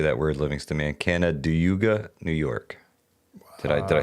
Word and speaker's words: Canandaigua: Canandaigua, New York. Did I say it right? Canandaigua. Canandaigua. Canandaigua.